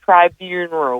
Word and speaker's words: tribunal: My husband tells me I say there's two Rs in it, and I'm convinced there are.